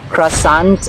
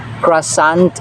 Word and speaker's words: croissant: word has two pronunciations crissant and quant kra qua so one thing is common I is silent so it's croissant and croissant either of the two is acceptable and this is small